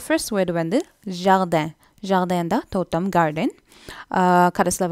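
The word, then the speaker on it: jardin: So first word வந்து ஜார்டன், ஜார்டன் தான் தோட்டம், கார்டன். கடைசியில் வர அந்த ஐ என்ன ப்ரொனவுன்ஸ் பண்ணணும், ஸோ ஜார்டன்.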